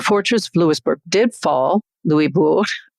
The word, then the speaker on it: Louisbourg: The fortress of Louisbourg did fall, Louisbourg, to try to stick to the French pronunciation, but was returned to the French.